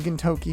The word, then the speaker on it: Gintoki: a bit more here, the most unfortunate one being Gintoki himself, sounding more like Kentucky.